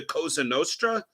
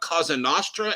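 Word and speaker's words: Cosa Nostra: anything like if you don't even know how to pronounce the kosa Nostra and you call it Casa Nostra and literally admit you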